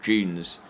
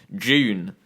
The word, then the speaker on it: Dune: a film that's called dunes or june uh people calling it dune um that are english but you shouldn't be calling it dune if you're from england because it's actually pronounced june so there you have